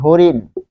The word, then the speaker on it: হরিণ: হরিণ হো কেন হলো, হ কেন হো হচ্ছে, হো হচ্ছে কারণ হচ্ছে হ এর পর দেখুন এই যে কার রয়েছে, হ এর সাথে অ রয়েছে, অ এর পরে এখানে কার রয়েছে যে রস্বই, তাহলে এই রস্বই থাকার কারণে